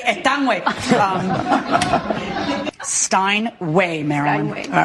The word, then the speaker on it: Steinway: I grew up in Astoria, New York, by a busy street that was called, is this how you pronounce this, Steinway?